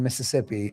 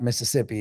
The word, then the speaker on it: Mississippi: Actually, when you grow up in Mississippi, it's not Mississippi, it's Mississippi. It's Mississippi, Mississippi. That's how you say it.